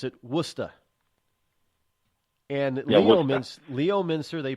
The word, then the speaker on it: Worcester: how they pron pronounce warchest or warer they pronounce it wora and Le Leo Miner they pronounce lemonster they